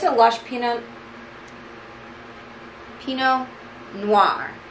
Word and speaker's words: pinot noir: it's a lush peanut pinot noir don't look at it when you say it that t is just going to try to jump in there all right people that